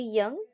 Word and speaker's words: Jung: Pronunciation will be Young, not Jung.